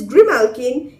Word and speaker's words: grimalkin: and the green alkene the pronunciation is grimalkin is the name of